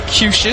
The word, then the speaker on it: Cuccias: Okay, Matthew Cushis spells his name Cuccias. Thank goodness for pronunciation guides. First appearance here in 2026. As Ziegler Namoa digs in left side, takes strike one. Cushis going to be 90 to 91 with a curveball.